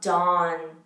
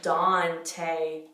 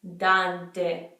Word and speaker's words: Dante: last name that much we usually just say Dante Dante it's not dawn Don CEO nasally that is Dante hey it's making like a long a style in English which that's not how it is in Italian so it's Dante and remember that and